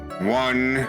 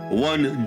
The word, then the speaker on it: Juan: the victim Juan karita one is pronounced one oh yeah sorry uh taking Mr prosecutor sir um the victim won Juwan karita was found